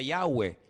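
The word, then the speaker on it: Yahweh: yod he Bad hei verdad ese nombre se pronuncia yahwe Ese es el nombre que aparece en el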